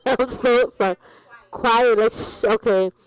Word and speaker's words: Kwyatt: Quiet, okay. It's because you know what, the way that you spell it, I thought the K was silent.